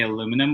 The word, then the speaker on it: aluminum: Aluminium is how they say it, and we say aluminum, which drives him crazy.